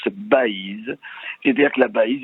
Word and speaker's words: Baïse: faut en préciser l'orthographe ça s'écrit avec B a I tréma s e et ça se prononce Baïse et dire que la